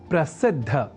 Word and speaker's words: प्रसिद्ध: समझकर या न लिखकर हम प्रसिद्ध अर्थात द और बाद में ध इस अक्षर विन्यास से युक्त शब्द प्रसिद्ध का ही लेखन और तदनुसार शुद्ध उच्चारण करेंगे।